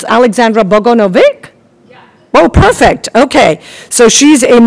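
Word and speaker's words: Aleksandra Bogunović: So I was even asking your pronunciation. It's Aleksandra Bogunovic.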